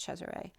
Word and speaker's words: Caesar: And then Cesare, which I posted today, translates as home of the ray, but Caesar is pronounced Cesare.